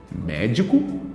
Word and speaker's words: médico: doento tônico certo então na palavra médico preste bem atenção hein médico cai na terceira sílaba de trás PR frente também chamada de antepenúltima ó última penúltima antepenúltima